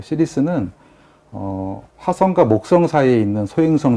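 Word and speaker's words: Ceres: 제품 이름은 또 시리스, 행성 이름인 거고요. 예, 이게 시리즈라고 발음을 합니다.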